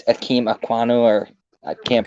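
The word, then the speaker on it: Ekwonu: It's Akeem Aquanu, or I can't pronounce his name right. The one from NC State. Kwanu.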